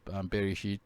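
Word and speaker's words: בראשית: It's because I did a message about Bereshit and where I used it, and I just looked up, how to pronounce the in the beginning in Hebrew, and it told me Bereshit.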